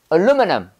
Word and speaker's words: aluminum: 그 다음에 aluminum. 자, 알루미늄 아니야? 발음? 해봐. Aluminum. Aluminum. Aluminum. 다시 해봐. Aluminum이야. 얼이야, 얼.